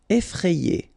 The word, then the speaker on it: effrayé: Effrayé. Okay, remember, double F, so you open the E, so effrayé.